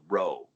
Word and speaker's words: rho: and it's called kai the second letter makes the er sound and it's written as a p and it's called ro so it's the chi